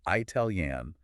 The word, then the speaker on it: Italian: Well, we know the country is Italy with a short I, but English speakers often subconsciously try to differentiate the adjective form, or they absorb a regional dialect that stretches that first vowel for emphasis. Ah, I see. But standard professional usage strictly demands the short I.